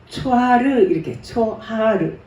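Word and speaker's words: צֹחַר: 그다음 다섯 번째, 초하르 이런 발음인데 히브리 말 눈부시다, 빛이 되다, 번쩍이다.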